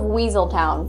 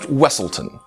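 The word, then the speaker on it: Weselton: bet you didn't guess it's the Duke of weaseltown from Frozen uh it's pronounced wesselton you know he does look very similar to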